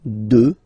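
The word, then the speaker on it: deux: Final X not pronounced, okay? 2.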